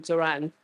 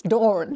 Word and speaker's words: Doran: day long you have yes it's Doran dor there we are you see so she rhyme with Moren right um book at